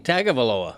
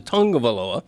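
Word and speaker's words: Tagovailoa: I mean, I I probably went the first year after he was drafted saying tagaloa, you know, event but eventually you learned that the way he pronounces it in the Samoan culture is Tongavaloa and so you adapt.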